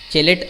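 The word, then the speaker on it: chelate: चेलेट effect क्या होता है, कुछ लोग इसको जो है प्रोनाउंस इस तरह से केलेट्स भी करते हैं, तो प्रोनाउंसिएशन में थोड़ा सा डिफरेंस हो सकता है।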